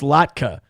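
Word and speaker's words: latke: By the way, Papa says it's pronounced LatKa, you Midwestern Haha.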